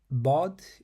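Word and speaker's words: ض: Orel which means honey bod is a unique letter that is often called the defining sound of the Arabic language in order to pronounce it correctly you have to first place the sides of your tongue against your upper molers fill your mouth with a bit of air while keeping your tongue in this position um you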